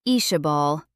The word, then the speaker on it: Isabel: Fisher pronounced it Ishabal, the name flowing nicely off his tongue, like he'd known 20 other females with the same name.